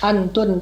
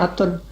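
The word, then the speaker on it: ܐܢܬܘܢ: Ya, itu bacanya Atun kalau di dalam bahasa Syriak. Memang nunnya ditulis tapi tidak dibaca.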